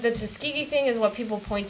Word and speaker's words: Tuskegee: Tuskegee, that's how you say it.